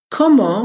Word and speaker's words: comment: expression how are you como which means how is spelled like comment c-o-m-m-e-n-t but the final t is silence so if you say